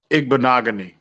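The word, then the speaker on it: Igbinoghene: attention damn um it's like that can you pronounce his name again I know his first name is Noah ignogany there you go Jesus yeah Noah he he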